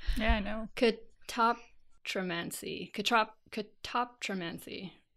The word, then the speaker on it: catoptromancy: Oh, it doesn't have the stress properly. Oh, yeah. Yeah, where's the main stress? Yeah, I know. Catoptromancy. Catoptromancy. Catoptromancy.